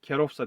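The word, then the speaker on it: kierowca: bu şoförler için demek yani kerossa diye okunur bizi demek buna tıklıyoruz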